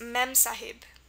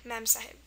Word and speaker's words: Mem Sahib: An example of this rule is Mem Sahib, M-E-M-S-A-H-I-B. And then here you have the E for the eh, mem, in that word, Mem Sahib.